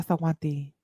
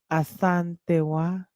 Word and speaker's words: Asantewa: Y'all drop some coconuts for yeah, Asawanti. I said it wrong. I said it wrong. Hold on, I gotta see. Asantewa. Asantewa.